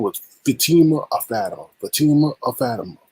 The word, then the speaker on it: Fatima: It's not Fatima, it's Fatima.